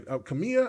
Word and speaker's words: Kamiya: Kamiya, I think that's how you say his last name. Hideki Kamiya.